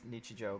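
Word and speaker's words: 日常: Pretty sure it's Nichijou, My Ordinary Life or something, right?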